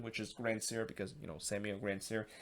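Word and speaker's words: Grandsir: actually pronounced his name grand sir which yeah that's not how you pronounce it you have to pronounce it in a french pronunciation which is gran sier because you know samuel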